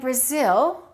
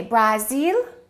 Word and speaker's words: Brazil: But what happens to these a's with Japan and Brazil? The first syllable is reduced and the second syllable is stressed. So this will sound like uh and this a will sound like a.